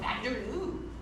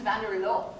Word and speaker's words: Vanderloo: I'm learning how to say it better. Did you hear that? I used to say it like a Southern California surfer girl, like I am. I used to call them Vanderloo, but no, their name is Vanderloo.